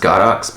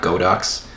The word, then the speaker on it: Godox: this is from godox it's pronounced godox because it is chinese um not godox um this one what